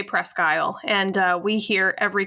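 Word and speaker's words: Presque Isle: of them pronounces it presel which is more like the French pronunciation but you do say ale right pres guy we do say pres guyle and uh we hear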